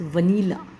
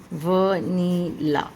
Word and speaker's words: vanilla: कई बार हम वैन को देख के इसकी प्रोनाउंसिएशन वैनिला करने लग जाते हैं, जो कि कुछ ये स्पेलिंग बनेगा आपका वैनिला। वैनिला गलत है, द करेक्ट आपकी प्रोनाउंसिएशन वो है वनीला, वनीला।